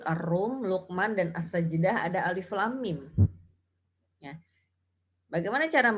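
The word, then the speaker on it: الم: Ada mim ketemu dengan mim, maka dibacanya gunnah. Ya, jadi cara membacanya seperti ini. Alif lam mim. Jadi huruf mimnya dibaca gunnah 2 harokat. Alif lam mim. Jangan dibaca alif lam mim. Itu tidak ada gunnahnya itu.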